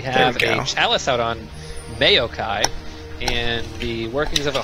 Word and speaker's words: Maokai: It's Maokai, by the way, like mayonnaise. Like mayonnaise, it's Maokai.